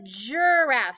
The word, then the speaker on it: giraffe: j j giraffe so anytime we have a g and an i or a g and an e which we will practice in a minute it makes the soft g sound the j j okay kind of tricky that's